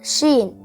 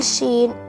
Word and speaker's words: Sheen: Shen you can spell Sheen in English as s h e e n Sheen it sounds like the combination of two letters in English s h s h for sheep